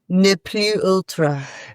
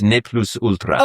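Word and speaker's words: Ne plus ultra: It's called Nepu Ultra. Turns out it's Latin, not French. Yes. So, we have to pronounce the S. We get to We get to pronounce the S. Neplus ultra.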